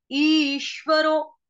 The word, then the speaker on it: ईश्वरो: श्व, ईश्वरो, ईश्वरो। रो के बाद क्या है? अवग्रह का निशान, उसका उच्चारण कुछ नहीं होता, लेकिन सुर को थोड़ा सा धीर करेंगे।